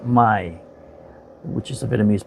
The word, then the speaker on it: Mai: m a I and it's pronounced my which is a vienamese